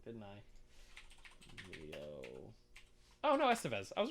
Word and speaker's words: Estevez: yeah oh yeah and like it's got emilio esteban or uh uh i just said his name wrong didn't i oh no estevez i was right it's a sequel not a